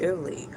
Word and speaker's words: Elay: Hello, my name is Ellie, pronounced likely like the city.